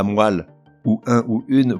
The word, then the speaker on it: moelle: On ne dit pas la moelle, mais la moelle.